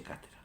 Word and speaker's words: cátedra: Siempre que se pronuncia, y aquí viene la palabreja, ex cátedra, desde la silla de Pedro, se pronuncia cátedra.